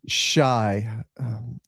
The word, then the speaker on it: Chai: And So Chai is pronounced shy.